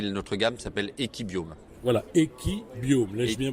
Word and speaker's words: Equibiome: Voilà, Equibiome, l'ai-je bien prononcé ? Absolument, Equibiome, et juste parce qu'on n'a pas beaucoup de temps.